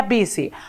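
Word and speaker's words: busy: ayer porque vi si no se pronuncia bus y como lo ven ustedes ahí se pronuncia vice esther de yo no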